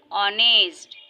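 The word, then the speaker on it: honest: and last example, ऑनेस्ट, यहाँ पर भी देखिए हम इसका प्रोनाउंसिएशन, इसको किस तरह से उच्चारित कर रहे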